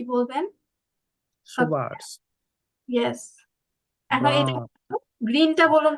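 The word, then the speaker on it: grün: কি বলবেন ইয়েস এখন গ্রিনটা বলুন তো ইয়া এটা কিন্তু উমলাউট আছে না এজন্য একটু উর মত করে বলবেন গ্রু এইভাবে ওকে গেল হ্যাঁ লাভ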